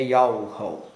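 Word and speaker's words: יהוה: Esse nome está contido em um tetragrama hebraico, Yod He Vav He, que em português é YHWH, e a pronúncia do nome é Yahu.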